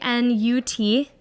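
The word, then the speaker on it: Gnut: that so funny yeah I definitely just was wrting as not I know like I was like a silent G I know because that's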